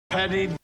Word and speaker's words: petty: trying to do but it's definitely not a D sound I don't think anybody pronounces this word as Petty so what sound is it some people call it flap tea in our system we